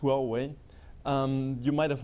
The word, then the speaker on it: Huawei: you for the pronunciation so it's pronounced well way you might have not